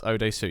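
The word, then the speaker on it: Oh Dae-su: Again, his name I cannot pronounce. Odesu? That's Odesu, yes.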